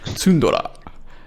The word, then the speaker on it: Tsundora: Tsundora, as in Tsundere. tundra, as in the Oh. biome. It's a play on words.